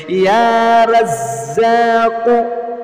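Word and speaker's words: يا رزاق: আমার সাথে সাথে একদম পানির মতো সহজ করে সহি শুদ্ধ উচ্চারণটা শিখুন। ইয়া রাজ্জাকু, ইয়া রাজ্জাকু, ইয়া রাজ্জাকু, ইয়া রাজ্জাকু।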